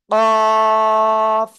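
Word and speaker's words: ق: লিখবেন তিনবার কয়বার তিনবার জিহ্বার গোড়া তার বরাবর উপরে তালুর সাথে লাগিয়ে কাফ চার আলিফটা নিয়ে মোটা আওয়াজে উচ্চারণ করব আর আপনাদের আজকের ক্লাসে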